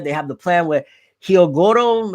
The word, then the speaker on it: Hyogoro: They have the plan with Hyogoro, again, that's how you pronounce his name, which that was also